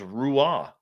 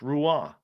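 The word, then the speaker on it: Roy: The proper pronunciation is Rua. Rua. Patric Rua. Not Patrick Wah. It's Rua. So the R is actually pronounced.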